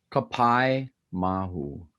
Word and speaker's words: Kapaemahu: So yeah, we're talking about the film that just came out this month called, I hope I don't mispronounce this, but Kapaemahu. Is that close? Kapaemahu.